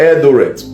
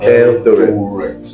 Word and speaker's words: Eldoret: And I'm seeing a place called Eldoret.